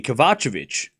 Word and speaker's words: Kovacevic: All right, so I've been saying the name wrong. Thank you for correcting me. Kavachovic.